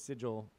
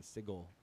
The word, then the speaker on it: sigil: It's pronounced sigil. Which Let's I go used to with that. pronounce wrong too. I used to say that was sigil, but apparently it is the hard G in sigil.